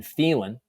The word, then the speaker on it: Phelan: I always mispronounce his name, but it's Phelan.